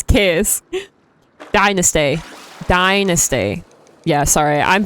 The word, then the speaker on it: Kas: If anyone is curious about how to say my name, it's CosyKas. I made a mistake yesterday. And I called myself. It is not. It's Kas.